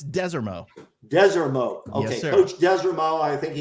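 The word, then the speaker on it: Desormeaux: How do you pronounce his last name? I know. So it's Desermo.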